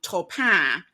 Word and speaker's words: Taupin: I wonder if any of the songs that we love are secretly about Frank Sinatra doing the correct French pronunciation Topin when he sang one of Bernie and Elton's songs.